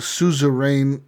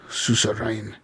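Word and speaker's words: Suzerain: to play yeah um so that that's called Souza rain um so that's spelled s u z e r a i n susar rain yeah not risk of rain I'm pretty sure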